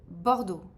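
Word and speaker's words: Bordeaux: Then you have rouge kazak rou kazak and also bordo bord is a type of wine and also a city in France.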